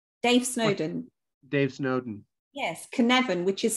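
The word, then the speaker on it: Cynefin: you referenced Snowden Dave Snowden Dave Snowden yes can Evan which is spelled c-y-n-e-f for Freddy i n it's a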